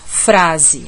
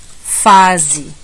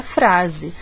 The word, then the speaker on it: frase: mais um caso aqui frase a gente não fala fase a gente fala embora a palavra fase resista mas nesse caso aqui eu estou realmente querendo falar da frase que é uma coisa